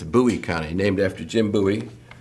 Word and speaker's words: Bowie: It's not Bowie. It's Buouie County.